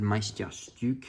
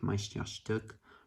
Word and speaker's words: Meisterstück: When I was reviewing it, said Meisterstück because I like to overpronounce things. But then I heard like native Germans say it, and they were saying something like Meisterstück or something, kind of close to that.